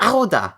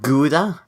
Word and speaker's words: Gouda: It's pronounced Auda, not Gouda.